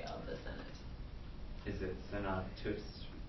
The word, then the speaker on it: senatus: Is it senatus? Senatus, right? With a long U.